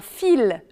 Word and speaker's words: fils: n'est pas toujours prononcée comparer par exemple un outil le elle n'est pas prononcé et un fils le elle est prononcée attention aussi aux mots